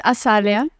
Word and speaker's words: Asalya: For the record, say it properly for everyone to hear. So it's Asalya. Asalya. Yes. I was putting the Z.